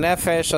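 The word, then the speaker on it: נֶפֶשׁ: Okay, nefesh in the Greek, in the Hebrew lexicon, nefesh is spelled out nun, pei, and then sheen with the diacritics there, segol, like an e, like in the word get.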